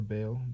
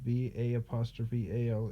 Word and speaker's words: Baal: Lord is Greek for Baal, Baal, exactly like that, which is exactly how it's spelled here, and caused their sons